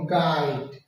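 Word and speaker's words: guide: যেমন গাইড, এই যে এখানে ইউর উচ্চারণ নাই, ডাইরেক্ট গাইড উচ্চারিত হচ্ছে, ইউর উচ্চারণ সাইলেন্ট।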